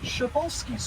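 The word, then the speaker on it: Przewalski: The only non-domemesticated horse in the world, the pinkole, Resvolski's horse, or Shabolski's horse if you go by the proper Russian pronunciation.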